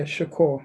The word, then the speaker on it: Shakur: Yeah, Shakur, like Tupac.